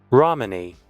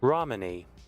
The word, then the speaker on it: Romani: Romani. Okay, fair enough. Like Mitt Romney. Romani.